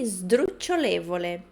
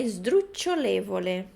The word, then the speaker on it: sdrucciolevole: Então, o S a gente não pronuncia esdru. É como se tivesse um izinho ali. Ok? Sdrucciolevole. Aqui a gente também tem de novo o cho, né? Sdrucciolevole.